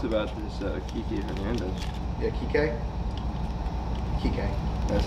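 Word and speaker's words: Kiké: Yeah, Kike. Kike. That's how you say it? Yeah. Yeah. Kike? Kike. There's a accent. on the E.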